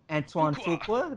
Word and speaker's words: Antoine Fuqua: Antoine Fuqua.